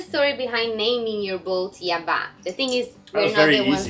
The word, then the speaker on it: Yabá: Fun fact, it is Yabá, not Yaba. It has the accent on the A at the end.